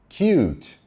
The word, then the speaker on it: cute: primeira sílaba Pet peat Cut de cortar cute cute de fofinho de bonitinho Cut vogal curta cute vogal longa lembra ó a i